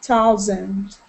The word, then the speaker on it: thousands: thousands oh yeah th thousands and again that th sound thousands thousand thousands thousand good